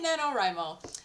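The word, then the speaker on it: NaNoWriMo: was like huh that's uh that's how it's pronounced cool got it so I did Nano rimo and last time I did it it was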